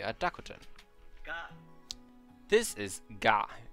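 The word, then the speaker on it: ガ: This is ga. You pronounce this as ga, like the word garden.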